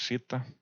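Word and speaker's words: zeta: Que recuerden que esto es la letra, bueno, en realidad se debería pronunciar como Z, pero bueno, aquí le decimos cita.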